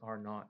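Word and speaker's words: R₀: to talk about this term called are not pronounced are not it looks like a R subscript zero and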